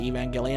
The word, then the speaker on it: Evangelion: You really do need all the other characters of what's going on around him in Evangelion, I say Evangelion, I'm pretty sure that's the correct pronunciation, to adequately surmise him as a character.